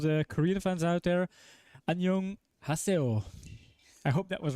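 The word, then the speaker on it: 안녕하세요: to me okay obviously he mentioned that we have to say anyong with the pronunciation or kind of lift up the the young sound sorry and to all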